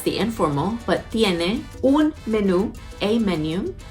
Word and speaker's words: menú: That's the informal, but tiene un menú, a menu. It's the same word, spelled the same. Menú, with the accent on the U, and there's an actual accent on there.